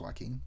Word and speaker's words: Joaquin: It probably isn't for the reason I think it is, because his name starts with a J, but it's pronounced Joaquin.